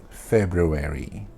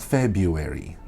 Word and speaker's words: February: wrong which is February February there is an R do not let go of the r it is not February it's not February it is February February February is a